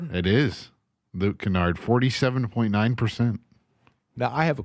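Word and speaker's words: Luke Kennard: And I'm going to mispronounce his last name. Would it be Luke Canard? It is Luke Canard.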